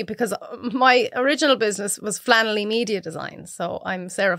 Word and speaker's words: Flannelly: Like, it's Sarah Flannelly, because people always say Flannery. Flannelly. It's the wrong way to pronounce it.